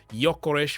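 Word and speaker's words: Gyökeres: race to sign Victor eorish or Y yores if you want to pronounce it correctly yores from sporting in 2025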